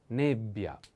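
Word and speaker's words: nebbia: on e but pay attention to this double consonant like pioja ja in this case double b bia nebia nebia is a female noun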